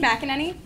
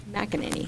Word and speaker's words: McEnany: McEnany. McEnany.